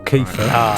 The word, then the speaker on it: Kiefer: Well, the answer is Kiefer Sutherland, or Kiefer, to say it properly, so, you know.